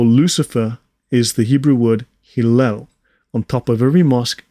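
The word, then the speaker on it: Helel: Pronunciation, Hillel.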